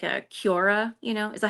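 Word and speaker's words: Quora: Melody and I wanted to do like a Cura you know is that how you say it?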